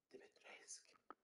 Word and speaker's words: Dimitrescu: Dimitrescu.